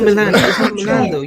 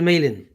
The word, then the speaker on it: Malen: why are you cursing it's not milan you say the land but it's not intentional is it it's not intentional it's daniel maylin daniel maylin all right it's going